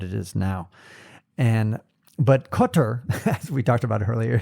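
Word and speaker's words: Kotor: compared to what it is now and but cutter as we talked about earlier is definitely on on the list um how do you spell that k o t o r cotor um and uh St Petersburg is a classic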